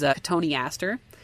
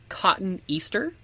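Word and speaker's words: Cotoneaster: plants and gardening is katoni aster because it's spelled cotton Easter and you're just like katoni aster. But I always said cotton. Me too. Right. It's that's incorrect.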